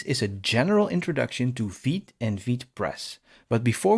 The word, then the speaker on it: Vite: very close together, but in French, the V is way harder, almost like a W. So I have to say Vite.